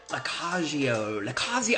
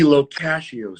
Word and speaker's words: Lo Cascio: That would be Locascio, sir. Locascio. Anthony Louis Locascio. Locascio. You know, I married in. Locascio.